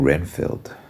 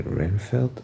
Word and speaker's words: Renfield: watching um I'm watching Renfield how do you say renfeld I think that's how they're saying it in the movie is that vampire movie